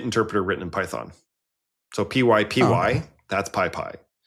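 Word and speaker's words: PyPy: So py py that's pi.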